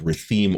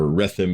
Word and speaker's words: Rethim: Kingdom of Kanday, the Kingdom of Rethim, or Rethim, if you want to be accurate about how it's supposed to be pronounced, and the Thardic Republic.